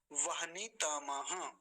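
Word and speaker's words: वह्नितम: एक बार देख लीजिए वहनी तम वहनी ह का को आधा रखेंगे और हल्का ही उच्चारण आएगा उसका वहनी तम वहनी तम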